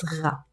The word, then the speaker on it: غ: The next letter is غ. This letter is very similar to the عين when it comes to the shape of it, but with the pronunciation, it's very similar to the French R.